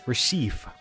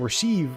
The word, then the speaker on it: Reshef: the all existence but i actually when i looked up the pronunciation for this and it's apparently rashif so like i don't know rich chef yeah rochelle so it's like chef so just i've been saying rasheed the entire time or many combinations of